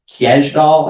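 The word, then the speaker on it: Kjeldahl: nitrates, the nitrites and I am not good at pronouncing this word but uh kdall I believe is how you say it total kall nitrogen.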